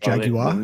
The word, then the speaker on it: Jaguar: Sorry, it's pronounced Jaguar.